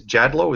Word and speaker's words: Jadlow: And then my great-grandfather wanted got tired of being called Jadlot when it's pronounced Jadlo and changed it to a W.